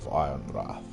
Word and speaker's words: Ironrath: Gregor Forrester, Lord of Ironwrath. Without a W. The W is silent.